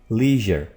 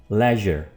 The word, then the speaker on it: leisure: जाने वाला वर्ड है, इसको हम अमेरिकन एक्सेंट में, अमेरिकन प्रोनाउंसिएशन में, फोनोलॉजी में बोलेंगे लीजर। क्या बोलेंगे? लीजर, लीजर। जबकि ब्रिटिश में leisure, leisure, leisure.